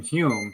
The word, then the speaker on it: Home: Well, he says he pronounces his name Hume, but it's spelled home. which Right. always confused me. So I always called him Daniel Home, but apparently it's pronounced Hume.